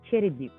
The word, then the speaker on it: Cherednyk: for us yeah so my last name is cherryduke so hannah that's easy to pronounce i know mike but yeah it is